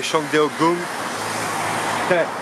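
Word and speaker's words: Changdeokgung: Bon, après avoir visité le palais Shangdeogong, la fois je le prononce bien, il y a une bagnole qui passe.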